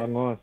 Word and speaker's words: bangus: Am I pronouncing that right? Bangos. Bangos. Bangos.